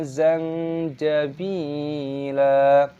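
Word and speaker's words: زَنجَبِيلًا: Bi, ada ya sukunya, baknya dibaca panjang, panjangkan dua ketukan mad tabi'i, lamnya di sini dibaca mad iwad, jadi dibaca zanjabila. Jangan kita baca zanjabilan.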